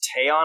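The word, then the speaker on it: Teyon: It's Teon, I guess is how you say it.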